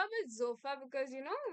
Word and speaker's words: Sofa: so it's the not sofa but zofa because you know we pronounce the S as Z there a slight Z